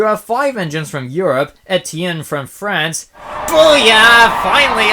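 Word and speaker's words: Étienne: Railway show you have five engines from Europe ET Tien from France Bo yeah finally I pronounced something correct in fren two points for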